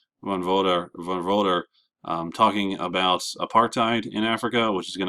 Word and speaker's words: apartheid: And I know it looks like aparthide, but when you say it, you're supposed to say it like a tide. Um, so that apartheid, it literally translates to